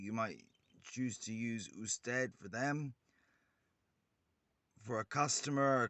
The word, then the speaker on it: usted: one the other type of view which is usted is spelled u s t e d and it's pronounced uh stead and that is the plight or the formal